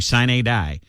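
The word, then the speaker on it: sine die: we're about to do sign a die and i think i'm pronouncing that right it's s-i-n-e and then capital d-i-e it's latin it's means means the end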